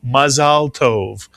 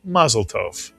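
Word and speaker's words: מזל טוב: When somebody does something wonderful, we wish them mazaltove or in Yiddish maztov.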